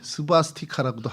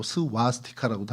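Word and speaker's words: swastika: 이게 좀 발음이 스바스티카라고도 하고 스와스티카라고도 하는데 복을 상징하고 행운을 상징하고 축복을 상징하는 글자입니다.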